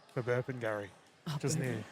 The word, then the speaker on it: Burpengary: Bapangari. Burpengary.